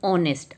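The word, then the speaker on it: honest: एंड ऑनेस्ट, again आपका ये जो है ओ साइलेंट है, एच साइलेंट है, ओ से आपकी साउंड शुरू हो रही है, तो ओ आपकी वोवल साउंड है, देयरफॉर यहाँ पे एन आएगा।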